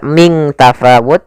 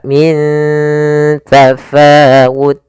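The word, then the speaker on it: مِن تَفَاوُتٍ: bertemu dengan huruf ta cara membacanya nunnya disamarkan ke huruf ta Bukan dibaca Ming tafawut tapi dia Min ya ikhfanya langsung k Min tafawut Kemudian pada lafal Fa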